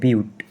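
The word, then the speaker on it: but: থাকলে শব্দমূল হবে বিউট, এটার উচ্চারণটি হচ্ছে বিউট, পাঁচটি কার্বন অ্যাটম থাকলে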